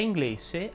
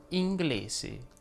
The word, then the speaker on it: inglese: la s sonora mentre inglese andrebbe pronunciato con la s sorda inglese che poi non capisco